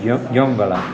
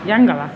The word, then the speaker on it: Yongala: Aquí nos han dicho una disculpa, no he dicho si se pronuncia Yongala. Yangala.